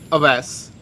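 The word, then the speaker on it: Awais: And your name again was Aves. And how do you spell it?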